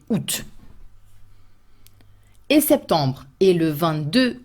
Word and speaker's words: août: Juillet, août, written with a lot of letters that you do not pronounce, A-O-U-T, accent circonflexe, and in the end you just say août.